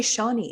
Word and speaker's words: Shani: think actually Shawnee is the correct pronunciation for my spelling. It's just that my parents said it differently.